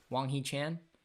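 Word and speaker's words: Hwang Hee-chan: If Jimenez is playing, I didn't check, but Jimenez and Chan are, how do you pronounce the name? Wang Hee Chan?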